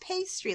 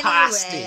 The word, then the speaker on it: pasty: I just thought it was pronounced pastry, like pasty, like pastry. It should be. Yeah, it should be, Yeah. but, you know, British people. Pasty. Cornish anyway, pasty.